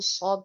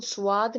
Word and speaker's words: صاد: इसको स्वाद नहीं कहते हैं जिसमें हम अपने लिप्स को पूरा राउंड करके صاد तो फिर हम इसको गलत तरीके से प्रोनाउंस करते हैं, तो ये स्वाद नहीं होता है, ये सौद है, ठीक है।